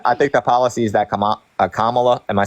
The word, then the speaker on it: Kamala: I think the policies that Kamala, am I saying it right?